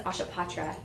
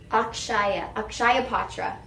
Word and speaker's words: Akshaya Patra: your purchase feeds through, I think it's Ashapatra. Is it Ashapatra? Yes. In India. Oh yeah. Akshaya Patra. And then we have the No Kid Hungry and Backpack Friends. So Akshaya Patra, I'm saying it wrong.